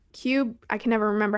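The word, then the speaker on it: Qubii: them in particular um i think it's called qb so it's cube i can never remember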